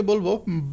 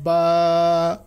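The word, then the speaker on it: ب: তাহলে আমরা এটাকে বলব বা নৌকা শেফ। নিচে এক নুক্তা। হরফের হরফটা হবে বা বা এর উচ্চারণ হচ্ছে দুই ঠোট থেকে।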